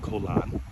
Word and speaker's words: Koh Larn: It looks like Koh Larn, but it's pronounced Koh Lan.